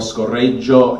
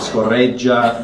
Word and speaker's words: scorreggia: At one point, she calls her dog scorreggio instead of scorreggia.